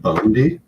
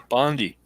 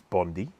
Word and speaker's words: Bondi: well they call it bundy bandai i'm from canada my friend we say semi instead of semi exactly yeah bondi exactly exactly like the singer blondie but she doesn't spell